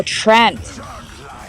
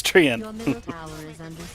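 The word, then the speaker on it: Treant: spell it t-r-e-a-n-t oh Trent it's not Trent it's treeing t-r-e-a-n-e yeah oh oh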